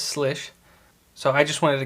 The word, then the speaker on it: Slysz: spyderco slish buoy now it took me a little bit of research to find out exactly how to say the name of this blade since it's spelt in a very interesting way but it is slish so i just wanted